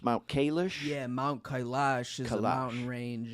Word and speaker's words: Kailash: nature, it's very similar to, how is it pronounced, Mount Kailash? Yeah, Mount Kailash is a mountain Kailash.